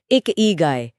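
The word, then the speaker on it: 生き甲斐: इकी गाय इसका उच्चारण है एक इगा गाय।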